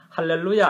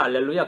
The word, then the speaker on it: 할렐루야: 아니고 전혀 그게 아니고 할렐루야 알렐루야 격이에요. 히브리 발음으로 할렐루야, 헬라식 하면 H가 떨어지고 알렐루야 이래 되는 겁니다.